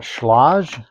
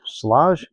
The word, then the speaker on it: Schlage: Found these um I think you pronounce that Schlage, Schlage.